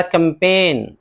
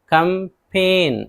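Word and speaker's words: campaign: इसी तरह कैंपेन, कैंपेन, जी एन है नहीं पढ़ेंगे, मुहिम या फिर मुनज़्ज़म कोशिश।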